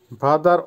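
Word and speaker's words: вода: ভাদা, ভাদার অর্থ হবে পানি বা ওয়াটার, উচ্চারণ হবে ভাদা, আবারও বলছি ভাদা।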